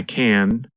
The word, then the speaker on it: can: I can I can't when we say the positive form we pronounce the letter N longer the n Sound n n n lasts longer than in the negative form in fact in the negative form because the tongue and voice stop there is almost no